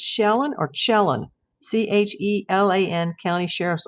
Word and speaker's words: Chelan: Chelan, pronounced Chelan. Thank you.